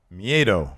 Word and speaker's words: Miedo: How you pronounce that? Miedo.